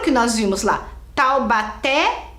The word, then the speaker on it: Taubaté: que nós vimos lá Taubaté é o última era forte Lúcia era a primeira mas eu quero saber a última olha aqui tau Baté Qual que é a sílaba mais forte é o té né olha lá é